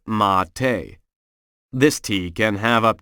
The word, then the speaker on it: mate: America called mate spelled m a t but pronounced mate this tea can have up to 150 mg